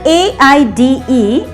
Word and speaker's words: aide: The other AIDE is also pronounced in the same way, aid, but it is used as a noun.